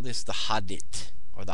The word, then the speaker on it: Hadit: And so we call this the Hadit, or the Hadit. Hadit. I like to say Hadit, but I never heard anybody else say that. So Hadit. H-A-D-I-T.